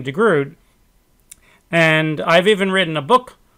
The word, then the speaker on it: de Groot: name D-E space G-R-O-O-T, which in English, of course, we would pronounce de Groot, because G-R-O-O-T, O-O-T would be root, like R-O-O-T is root. So for 50 years, I've pronounced his name de Groot, and I've even written